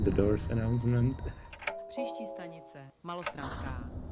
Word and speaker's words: Malostranská: Malostranská. At least now I know how to say the station. Molostrenska. Yeah, that's right.